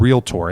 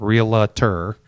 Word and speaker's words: realtor: and a realtor and yes that is how you pronounce the word realtor it's not real terr sorry for those of